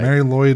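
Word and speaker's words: Mari Lwyd: well she's not she's I believe it's m Mary lyd it's spelled m a r i l Wy d That's yeah that sounds about right Mary Lloyd is uh what the the translator said so that's what I'm going with uh a horse skull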